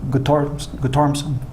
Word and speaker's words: Guttormson: Lee, and then you get another kid named Guttormson.